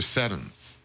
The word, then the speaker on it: Seddon: Seddons.